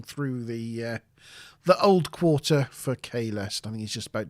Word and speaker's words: Kahlest: Sounds the same, doesn't it? Yeah. It's only if you particularly pronounce the T at the end that you can even tell.